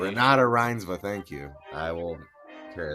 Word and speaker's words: Renate Reinsve: to her, despite being super fucking terrible to Renate Rensive, or I don't know how you say her name. Renata Reinsve. Really? Oh, I fucked up. Pronunciation. Renata Reinsve, thank you.